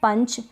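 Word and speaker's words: punch: फिर ये है पंच, इसको भी पंच पढ़ेंगे, ठीक है। इस यू का अ उच्चारण हो रहा है, क्यों हो रहा है वो आप रूल्स देख लें एक बार, उससे आपको क्लियर हो जाएगा।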